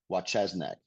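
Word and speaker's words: Wojcieszak: There's a book called Sorry Works by Doug Wachesnik. His name is spelled exactly like it sounds, Doug Wachesnik.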